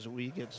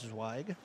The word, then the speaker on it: Zweig: and let me know he pronounced his last name zweig so instead of zoe gets zweig just food for thought when